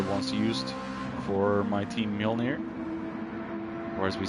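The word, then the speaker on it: Mjölnir: Thor's hammer foreign not that big of a difference in how the English say it and how the say that name actually biggest difference is mule from the English pronunciation and mural from the Norwegian so uh Graham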